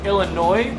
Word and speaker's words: Illinois: I just learned that the proper way to pronounce Illinois is Illinois and not Illinois there's no noise there's no noise in Illinois so I feel smarter